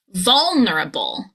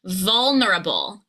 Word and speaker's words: vulnerable: Bull. Kind of like the animal. Bull. Vulnerable. Vulnerable. So let's take it back. Back chaining. Buller. Now together. Vulnerable.